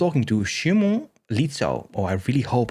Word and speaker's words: Szymon: not usual so yeah to pronounce it correctly i'm shimon i know who she